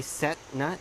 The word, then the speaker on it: Visesnut: know it's not the set nut it's nice it not so you kind of cut the T down anyway the intricacies of beautiful Thai language anyway so if he said nut is how it's pronounced okay so these are